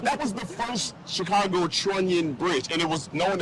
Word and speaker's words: trunnion: And that's known as, it's a trunnion bridge, is spelled trunnion like onion, okay?